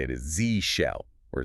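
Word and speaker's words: zsh: And if you're using the just shell environment, the correct way to say it is Z shell or Zid shell.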